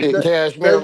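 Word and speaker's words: Kashmir: Cashmir like the sweater.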